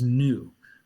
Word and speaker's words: Nu: most talked about, is Nu, which is phonetically so close to Noah.